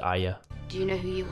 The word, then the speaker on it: Arya: I'm Arya Ian she pronounces it Aya do you know who